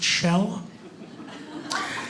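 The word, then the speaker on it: Kjell: babysit him here we go my name is chell it's norwegian spelled k-j-e-l-l pronounced shell yeah i know that's not even a joke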